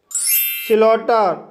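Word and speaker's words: slaughter: स्लॉटर, स्लॉटर शब्द में ए यू के बाद जी एच आया है, इसलिए जी एच साइलेंट रहेगा, इसलिए इसे स्लॉटर पढ़ा जाता है।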